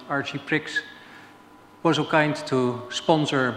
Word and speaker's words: Archiprix: Juan Pablo Corvalan was so nice to invite me for this presentation, and Archipri, or I think as you pronounce it, Archiprix, was so kind to sponsor my trip to Chile.